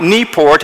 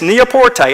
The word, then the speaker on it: Newport: I said, "Well, this is Newport," and the first thing he said is, "You're mispronouncing your name. It's not Newport, it's Neaporte."